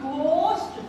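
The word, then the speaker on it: ghost: ओ एस टी लगावांगे तो बन जाएगा घोस्ट घोस्ट घस्ट घस्ट जी एच ओ एस टी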